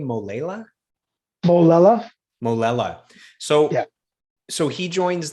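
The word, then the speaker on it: Molella: Molela.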